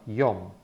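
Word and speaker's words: יום: it yet okay so the sound of it will be y or M yum and yum means day you know this word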